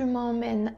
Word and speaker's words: emmènes: Tu m'emmènes avec toi? Tu m'emmènes avec toi? Zabierzesz mnie ze sobą? ES oczywiście z czasownika nie wymawiamy.